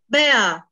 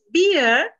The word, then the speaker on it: bear: huge bear I've been be careful with the pronunciation of uh these animals when you see when you pronounce beer it means beer is something uh alcoholic drinks alcohol alcohol uh beer but there is an animal they saw a huge bear okay and it